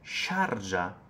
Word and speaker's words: Sharjah: Questo si scrive, si legge Sharjah, non è Sharia. Sharia si scrive con la Y, Sharia, e si scrive diverso, Sharia, ed è una cosa diversa. Sharjah è il nome di un emirato.